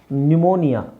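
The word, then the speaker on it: pneumonia: ಕಬಡ್ okay next ಇಲ್ಲಿ ನ್ಯುಮೋನಿಯಾ P silent ಇದು ಕೆಲವುದು scientific words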